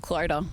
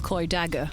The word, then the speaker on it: Clodagh: off and try and phonetically spell cler which um it's not how it looks with a glorious clo dagger how would you do